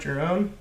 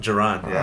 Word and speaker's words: Jerron: Is that how you pronounce it? It's not Jerome? Jerron? Jerron? Jerron, yeah.